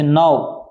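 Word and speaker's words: know: अब ये भी याद रखना के साथ में एन आने पर भी के साइलेंट रहता है, जैसे नाउ, ठीक है भी नो। इसी वजह से उच्चारण के लिए नो का प्रयोग करो। क्या करोगे भी नो।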